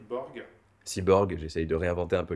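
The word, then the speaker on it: C-borg: apprivoiser les C Borg cyborg, j'essaie de réinventer un peu le terme de cyborg avec une connotation plus positive. C'est c tiré borg pour creative borg mais prononcé Cyborg, Voilà.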